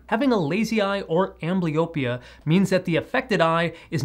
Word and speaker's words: amblyopia: The medical term for lazy eye is pronounced amblyopia, and despite people calling it lazy eye, it's